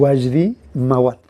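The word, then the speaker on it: Wajdi Mouawad: ¿Cómo se pronuncia? Wasdi Mawat.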